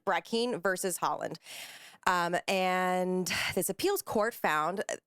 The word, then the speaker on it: Haaland: And Deb Haaland, Haaland, I believe it's pronounced.